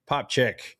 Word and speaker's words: Popcak: It makes it sound like a CH. Okay, yeah. Well, you're we're from German country, so you know, neighbors. Yep. Dr. Greg Popchak is the founder of